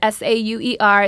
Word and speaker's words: Sauer: That is Sauer. It's spelt like sour, said like Sawyer, but always sweet.